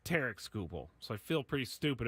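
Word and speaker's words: Tarik Skubal: wrong this entire time it's not Tariq scoble it's t scoble so I feel pretty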